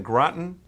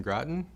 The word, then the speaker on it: Groton: Joseph, you know, practices in Groton. Did I say it right? Groton, Connecticut. That's correct. Groton, Connecticut.